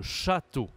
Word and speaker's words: château: French on dit le château ok le a est un peu plus prolongé quand il y a l'accent circonflexe ça change donc la